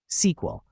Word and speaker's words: SQL: SQL, say it like SQL, stands for structured query language.